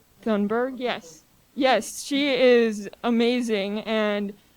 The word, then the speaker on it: Thunberg: Thunberg.